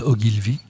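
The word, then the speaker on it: Ogilvy: sa mère euh je je vais prononcer la française ça sera plus simple margarte ogilvi ogilvi s'écrivant o g il l V y la mère de de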